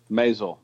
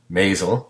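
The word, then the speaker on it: Maisel: I always mispronounce the name Mazal thank you Mazal I I and I got scolded heavily by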